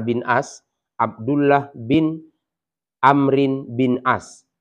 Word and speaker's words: Amr: Umar Bin Ash bin Amr Bin Ash Abdullah bin Amrin Bin Ash jadi pembacanya Abdullah bin Amr Bin as bahasana Iya Rasulullah alam